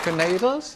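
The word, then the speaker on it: knaidel: Canadles. Yeah, it's Yiddish pronunciation.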